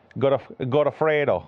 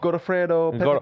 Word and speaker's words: Godofredo: So, how did you pronounce his first name? Godofredo. Godofredo Pepe.